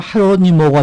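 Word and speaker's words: Jerónimo: 그러니까 이게 지금 J로 시작해서 제가 제로니모라고 말씀을 드렸는데 스페니쉬 발음으로 헤로니모가 되겠군요. 네, 맞습니다.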